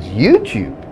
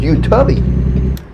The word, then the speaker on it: YouTube: at and he said it's the way you pronounce he was saying it was YouTube I was like YouTube Don I always bought it with you tubby I've been calling it you Toby for years watching it I was saying to